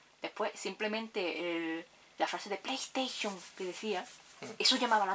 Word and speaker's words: PlayStation: Por eso no se la, hay quien la llamaba la Play 1, la Play Station esa, hasta entonces, y esos anuncios ya dijeron, no, se pronuncia PlayStation.